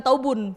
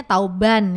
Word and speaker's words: tauban: Itu namanya tauban. Oke. Jadi bukan taubun. Bukan taubun. Oh, taubannya. Jadi selama ini saya juga salah dong nyebutnya taubun ya. Bacanya tauban ya.